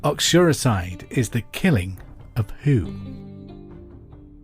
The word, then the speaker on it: uxoricide: Uxoricide is the killing of who?